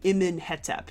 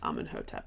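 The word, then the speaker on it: Amenhotep: Name for Amun, name for the god Amun, and Hetep, which you say Hotep. It's not technically not. It's technically Imin-Hetep is how you say his name, but everybody knows it as Amun-Hotep at the moment.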